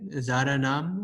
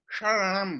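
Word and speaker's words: शरणम्: Sorry, I don't know if you went over this, but it says the middle word, like Zaranam, or is that how you pronounce? Sharanam, right?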